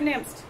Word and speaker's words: Nimtz: So tonight, I'm pleased to introduce to you Professor Nimtz. Did I say it correctly? Yes.